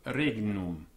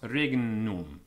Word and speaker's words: regnum: The Latin GN, footnote 6 first, after a vowel, has been supposed to have the sound of hngn, so as in hangnail. So regnum, being pronounced regnum. Cognomen as in cognomen.